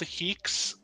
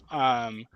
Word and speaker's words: HEEx: It's called Heeks. Heeks. So How do Heeks you is spell it?